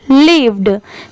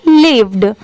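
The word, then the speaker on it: lived: में बताती हूं कि कोई भी वर्ड के लास्ट में जहां पर डी हो वहां पर पढ़ने के बाद ड की साउंड जरूर आती है जैसे अगर आपको ये पहले से पता होगा कि एल आई वी ई लीव होता है और वहां पर आपको डी दिख गया लास्ट में तो वहां पर आप सिंपली लास्ट में ड लगा दीजिए लीव्ड ठीक है आप उसे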